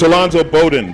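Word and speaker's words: Alonzo Bodden: It's Alonzo Bowden, by the way.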